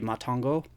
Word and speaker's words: Matango: So if it's still supposed to have a Japanese pronunciation, obviously it would be Matango.